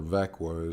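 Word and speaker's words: Växjö: company uh schwenska flax fabricant with headquarters in vexia or vakwa as they pronounce it sweden which is southern central sweden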